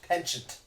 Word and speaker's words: penchant: expense of common sense and unity oh it's pronounced penchant mmm so we so we can hear ask